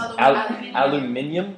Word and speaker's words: aluminium: like some f metal did you know that the uh Australians and the British pronounce aluminum as aluminium isn't that great also